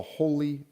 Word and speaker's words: holey: its own currency the holy dollar it just gets me it's spelt holy h-o-l-e-y but for some reason it makes me think almost like in a religious sense or a church sense like uh holy like